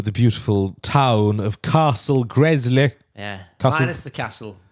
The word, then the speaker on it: Gresley: The Grizzly Castle. Gresley Castle. Am I saying it right? Is it called Castle Gresley? Gresley, yeah, not Grizzly.